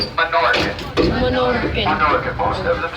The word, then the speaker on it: Minorcan: The section of town behind the Columbia is known as the Minorcan Quarter. Everyone say Minorcan. Minorcan. Most of them spell it M-I-N-O-R-C-A-N.